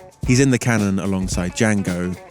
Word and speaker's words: Django: He's in the canon alongside Django, The D is silent.